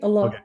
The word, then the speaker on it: Allah: it right what's that you said it right Allah yeah okay perfect and and so she's very